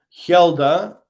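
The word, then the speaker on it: Hjelde: agreeing apart from Free Falling uh right okay Hilda look at this spelled that spelling right um h j e l d e l d e sorry Hilda future uh leads there you go I've asked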